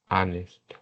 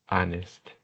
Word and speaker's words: honest: In this case, we have the eight sound that is silent. That it's silent, no sound. For example, hour, hour, hour, honest, honest, heir, heir, heir, heir, heir, heir, honor, honor, honor.